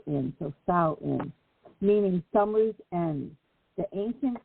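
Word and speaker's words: Samhain: it's named it's spelled quite different but it rhymes with C in so s in meaning Summer's end the ancient Kelts believe that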